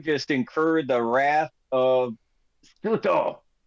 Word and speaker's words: Tsuto: You can assume that you just incurred the wrath of Tsuto. Silent T. Goopy goop. Yeah. Silent T it is.